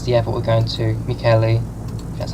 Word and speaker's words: Mikkeli: Mikkeli. That's how you pronounce it.